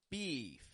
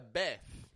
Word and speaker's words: beef: in Mexico beef now notice the way that I stretch out the e in the middle of that word right beef it's not just a beff nor is it a Biff Biff but it stretches right out there's lots of tension between the back of my tongue and my teeth to make that e kind of sound beef so cow meat is